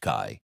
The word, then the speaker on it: 开: Pronounced Kai.